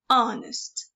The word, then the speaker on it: honest: The H is silent. Honest.